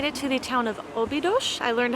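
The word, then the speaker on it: Óbidos: we have made it to the town of obidosh I learned how to say that on the bus I feel like I'm pronouncing things right and then I hear how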